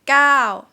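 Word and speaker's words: เก้า: gao please note that first order out classified as a short vowel in thai but it's pretty much like a glide ending so it's considered a live syllable and the vowel out here can be short can be long depends on each word and this word is long yeah so what is falling time falling tone phonetically it's ah so you go out first and down right for example the word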